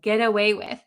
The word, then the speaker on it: get away with: Get away with. So in American English, when we pronounce this really, really quickly, this T is going to become a D sound, an English D sound.